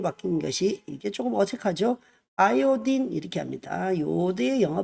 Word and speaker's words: 아이오딘: 같은 경우도 이름이 바뀐 것이 이게 조금 어색하죠 아이오딘 이렇게 합니다 요드의 영어 발음이 아어요 아 영어 발음이 아이오딘이 그든 예